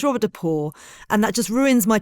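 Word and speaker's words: Robert de Pauw: just the fact that this is not how his name is pronounced because I've been calling him Robert depal and that's not how his name's pronounced it's Robert depor and that just ruins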